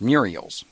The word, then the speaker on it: mural: them in the mural well in baltimore they're pronounced muriels and uh because they